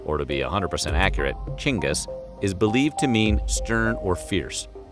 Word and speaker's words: Genghis: While most Westerners say Genghis with a hard G, that's incorrect. In Mongolia, the G is soft, so it's actually pronounced like this, Chinggis.